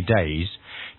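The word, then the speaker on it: Tao: so in the end it's pronounced da and actually written t with a t so you've probably seen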